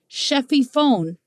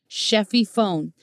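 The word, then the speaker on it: שפיפון: the Strong's Hebrew concordance and it's this word sheffy phone that's really how it's pronounced sheffy phone and it is derived from the root term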